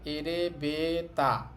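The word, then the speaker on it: エレベーター: একটু টেনে বলতে হবে তাহলে আমাদের শব্দটা হবে এরেবেতা এরেবেতা এরেবেতা এটা একটা ইংরেজি শব্দ একচুয়ালি এবং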